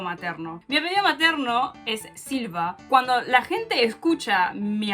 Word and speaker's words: Silva: Lo que pasa es que Silva, cuando lo escribes y lo pronuncias, suena muy parecido a lo que sería silver, que es plateado, porque es Silva y silver es Silva. Es como nada más extiendes un poco más la A del final.